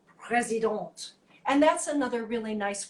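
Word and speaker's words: Président: often times they'll have pres it says it's president but it's pronounced president and that's another really nice one to use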